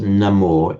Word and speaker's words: namo: So the namas in Sanskrit on its own would be pronounced namah, but namas is the stem form, becomes namo in Pali.